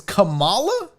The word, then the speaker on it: Kamala: while i look this up it's what it's kamala i'm looking it up because i swear i